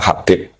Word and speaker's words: Habib: Itu di harokatnya kitab itu ada yang nulis Hubab. Yang benar, yang benar itu bacanya Habib.